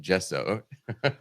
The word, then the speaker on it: Gesso: And if you read the module page, literally the second sentence is Gesso, pronounced Gesso. With J-E-H in capital letters.